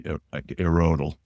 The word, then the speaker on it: IRRODL: Is it IRRODL or IRRODL? What's the official name? Somebody? I always say IRRODL. Okay. Depends who you ask. That's good. I mean, that means IRRODL's an interesting entity, right?